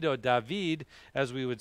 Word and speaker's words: David: the greek and then dabeed or david as we would say and again in the greek and in hebrew again the d and the b are the same letter and they can pronounce